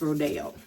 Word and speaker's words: Rodeo: I was saying Rodeo, but it's Rodeo.